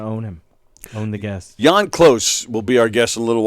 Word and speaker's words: Jann Klose: Jann Klose will be our guest in a little while.